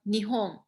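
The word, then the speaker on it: 日本: in your language uh nihong ah yes okay there's an n at the end because i know chinese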